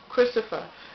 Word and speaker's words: Cristophe: Cristophe, I guess that's how it's spelled. It's pronounced Cristophe.